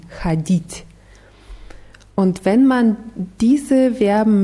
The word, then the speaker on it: ходить: Ja, die Betonung ist auf i, ходить.